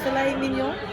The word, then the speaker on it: filet mignon: Filet mignon.